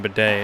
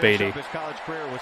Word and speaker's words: Beatty: I'm not calling him Bidet. It's spelled Beatty.